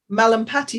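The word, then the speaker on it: Mallampati: their throat and um you have the um malam patty score as i understand it i hope i'm pronouncing that correctly that is correct yes is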